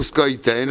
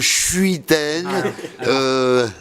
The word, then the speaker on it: Schuiten: En Belgique, c'est plutôt Squitten. En France, c'est plutôt Schuiten.